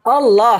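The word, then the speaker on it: الله: Allah. Allah. Gimana? Allah. O kan bukan A kan. Allah. Anda enggak bacanya A. O.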